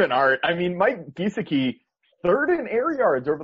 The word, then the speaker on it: Gesicki: spelled like this, and it's Gesicki, and I used to call him Gesicki, and he like got real mad at me and corrected me, and so now I pronounce it Gesicki.